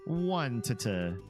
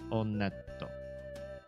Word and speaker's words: Onett: One to just kidding. It is pronounced Onet. I did check the Japanese pronunciation and in Japanese when you go to this first town they pronounce it onto onetto. So onet get themselves started.